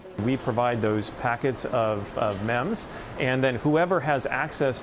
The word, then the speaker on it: MEM: Yeah, it sounds gross, but I'm going to introduce you to something called a MEM. Not a meme. I promise I'm saying it right.